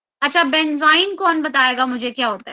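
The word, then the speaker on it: benzyne: तो उसको हम क्या प्रोनाउंस करते हैं, that is considered as बेंजाइन। उसको क्या बोला जाता है, बेंजाइन। क्लियर।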